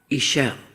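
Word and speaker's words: Ixchel: circle and I wrote her name in the middle, Iselle, which is spelled Ix CH E L.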